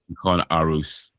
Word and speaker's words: Aarhus: I thought it was going to be pronounced Aarhus, like Toys R Us. But no, it is Aarhus.